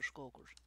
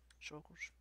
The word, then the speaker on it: Shulkers: How do you say that? Shulkers or skulkers? Shulkers.